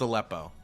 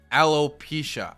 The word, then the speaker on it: alopecia: has a a uh it's not pronounced aleppo okay alopecia alopecia thank you okay thank